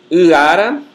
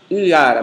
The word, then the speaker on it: uara: Uara, a palavra canoa, né? Em geral, não é pronunciada uara, mas aparece uma consoante fricativa velar sonora entre o U e a vogal seguinte.